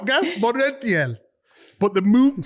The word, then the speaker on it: Montiel: But the movement from the striker in there, I don't even know how to pronounce his name. It's Montiel. Is that all right, guys? Montiel.